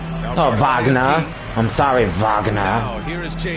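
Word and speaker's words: Wagner: You fucking fouled him, Wagna. Oh, Vagna, I'm sorry.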